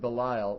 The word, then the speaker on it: Belial: Sons of Belial, or sons of Belial, depending on the pronunciation, B-E-L-I-A-L, is a common expression for worthless people.